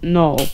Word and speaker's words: Null: also whenever you say null's name it's not n it's null okay and trust me